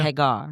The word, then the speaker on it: Hagar: I am right now studying the story of Hagar. Is that how I say it properly? Hagar.